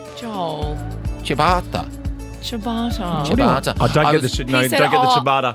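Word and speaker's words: ciabatta: Billy Alish but you did not just say Chia better how's it pronounced Joel chabata chabata CH I don't get don't get the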